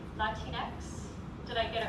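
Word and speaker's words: Latinx: Latinex. Did I get it right? Latinex. Yeah. So, it rhymes with Kleenex.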